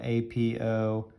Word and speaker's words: apothem: That is known as the apothem, all right? Kind of a weird word, but it's spelled A-P-O-T-H-E-M, all right?